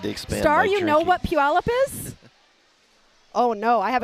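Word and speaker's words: Puyallup: They're not I was born in a town called Puallup, Washington. Oh jeez. And do you know how many And it's spelled P U Y A L L U P. Puallup.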